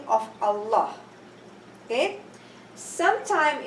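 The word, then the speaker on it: الله: If a Dhamma or a Fatha preceded Allah's name, then the Lam is pronounced with tafkhim. For example, Inna Allah. Okay? Inna Allah. Inna Allah. So Allah, my tongue went up to the roof.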